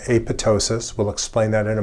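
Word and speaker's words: apoptosis: What is aptosis? I've talked about that several times. Please note that the second P is silent. Aptosis is programmed cell death.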